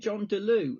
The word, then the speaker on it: Jon Delieu: Is it Jon Delieu? Am I pronouncing that right, Jon? That's right, yeah.